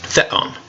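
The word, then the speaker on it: θεόν: First syllable, fe. Second syllable, on. Put it together. Theon.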